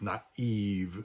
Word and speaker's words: naive: i with two dots because it's not Nave but it's naive so the I is or the e sound is pronounced distinctly separately right the Spanish word